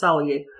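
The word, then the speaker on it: Tsalagi: Cherokee wasn't pronounced Cherokee either, it's Saligee.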